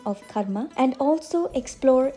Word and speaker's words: karma: often pronounce it as karma but the correct pronunciation is karma k a short K followed by a slightly longer ma K ma Karma it